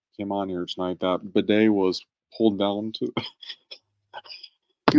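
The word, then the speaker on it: Badie: he it's not Tyler baddy he wants he wants it pronounced b day like the ass cleaning device so just like aan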